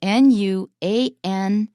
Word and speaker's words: nuance: I just want to close with this one word that Chris used, nuanced, because that's a really good word that comes from French. It's spelled Nuance. That's the noun nuance, but we can make it into a past participle, nuanced.